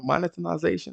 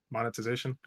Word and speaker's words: monetization: lot monitoring what monotonization how do you pronounce this get the dick out of your mouth man and then you might be able to pronounce it why you say it monetization monetization monetization that's why i'm adding an extra syllable for some reason monitoring you're adding an element there monetization so that being said